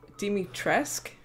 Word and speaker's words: Dimitrescu: Dimitrescu? The very same. Why don't you take a look? Maybe you'll get lucky. And speaking of looking, care to make a purchase? So he said Dimitrescu?